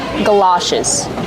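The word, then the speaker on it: galoshes: And you can also call them galashes. Let's talk about the pronunciation. G like up and cup. Gala. It's an open sound like stop and hot.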